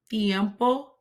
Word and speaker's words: tiempo: word Tiempo notice that I'm placing my tongue between my teeth in order to soften the letter t okay and an H